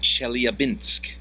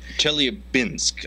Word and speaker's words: Chelyabinsk: of meteorite fragments over the Russian city of Chelyabinsk. Chelyabinsk.